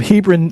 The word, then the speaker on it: Hebron: He's a songwriter from Hebron, Nebraska.